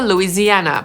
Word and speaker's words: Louisiana: I jedyny stan na literę L to Louisiana /luiːziˈænə/. I zauważcie, że po angielsku to ma aż 5 sylab: /lu iː zi æ nə/. I akcentujemy przedostatnią – /luiːziˈænə/.